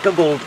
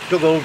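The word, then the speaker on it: Dugald: in 1886 she was designed by double Drummond now I've said that wrong you guys up there in Scotland I think doubled is the correct pronunciation you need to tell me anyway um yeah she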